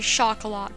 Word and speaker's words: Chocolat: Name my baby Chocolat, by the way, that's how you pronounce that.